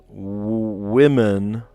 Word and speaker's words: women: Isn't it weird that the word woman and then women you say it like a wi instead of a w woman I don't know like why do we pronounce the o different in those two words women and w woman that's one of the